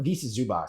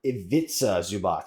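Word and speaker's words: Ivica Zubac: Uh this is uh for Visa Zubas. So or Vitza Zubots I believe is how you pronounce it.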